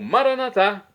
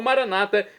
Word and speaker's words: Maranatá: E agora eu clamo Maranatá do dialeto de Jesus, pronúncia católica com a tônica na última sílaba ou maranata, como dizem nossos irmãos separados das comunidades protestantes ou evangélicas.